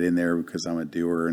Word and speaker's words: Dougher: there because i'm a doer not a hearer so and it's the way you pronounce my last name doer and so it's doer